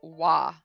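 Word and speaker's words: は: is this one is it's ha but sometimes it will be pronounced wah if it's pronounced as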